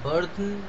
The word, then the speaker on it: burden: mood in which the burden, মানে এটা উচ্চারণটা burden হবে, বাট তখনকার সময় BURTHEN লেখা হতো, ডিটা লেখা হতো না।